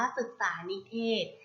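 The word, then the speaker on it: ศึกษานิเทศก์: คำ ว่า ศึกษา นิเทศก์ ศึกษา นิเทศก์ อ่าน ว่า ศึกษา นิเทศก์ ศึกษา นิเทศก์ ประกอบ ไป ด้วย 2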